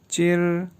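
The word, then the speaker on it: zhī: जी, तो पहला मयर वर्ड है ZHI फर्स्ट टोन के साथ, ये प्रोनाउंस होगा चिर, चिर, चिर।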